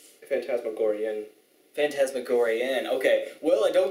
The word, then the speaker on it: Phantasmagorian: Is it pronounced Phantasmagoria? Phantasmagorian.